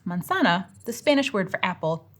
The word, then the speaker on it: manzana: Spanish word for apple, you have to know the phonemic rule that the letter Z is pronounced like an S in Spanish. Otherwise, you won't pronounce the word right.